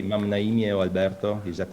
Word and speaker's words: Alberto: Yeah, the pronunciation is correct. Alberto is correct.